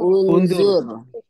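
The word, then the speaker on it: انظر: teman-teman membacanya gimana Un unzur baik teman-teman membacanya dengan meletakkan domamah pada awal huruf ya pada awal awal huruf Oke kita taruh di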